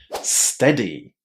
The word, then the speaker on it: steady: Now, a lot of students have a problem here because of the letters EA. But in fact, this word is pronounced with a short E, the same E that we have inside of the word pet or get.